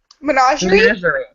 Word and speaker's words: menagerie: how to say it, so I'm going to spell it. Someone say it. It's MENAGERE, RIE. Menagerie?